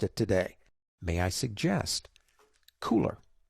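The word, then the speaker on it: Kuler: May I suggest Cooler? Now, it's spelled K-U-L-E-R, but it is called Cooler, as in, hey, it's cool.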